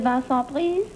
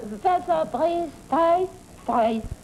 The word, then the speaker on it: Vincent Price: Well, Vincent Price. Right. Price? Vincent Price. Spell it. Vincent. V-I-N-C-E-N-T. Oh, Vincent. Vincent. Price. P-R-I-C-E.